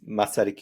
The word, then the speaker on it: Masaryk: say it's the name of our University is masic University so it's like it's really simple fortunately